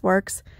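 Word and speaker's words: Worx: keeping for ourselves this works is a great tool brand if you know it works it's spelled w-o-r-x this was their line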